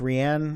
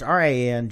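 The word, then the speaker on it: Rian: Ryan how do you say I think it's rien yeah it's Rin Johnson yeah the director who's making episode 8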